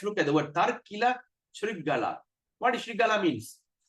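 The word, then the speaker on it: śṛgāla: When there's an apostrophe on the S, we're going to pronounce as shampoo.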